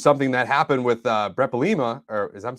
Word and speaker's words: Bielema: The Patriots are not the only ones who do this, but But this is something that happened with Brett Bielema, or I'm saying his name right?